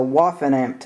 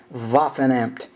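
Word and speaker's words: Waffenamt: what that is is a waen amp stamp uh that's w a f f n Mt I hope my pronunciation is accurate on that vafan amp stamp and uh that represents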